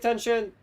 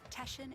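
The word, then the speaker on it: Teshin: Let's save Tension. Tension. I I said it wrong the first time. Tesshan is deep within this ship.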